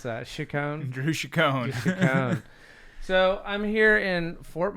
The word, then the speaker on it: Chicone: How do you pronounce that? Chicone? Drew Chicone. Chicone.